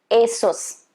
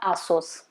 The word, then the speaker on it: ASUS: something from this brand it's supposed to be asus asos okay not asus asos i've learned it from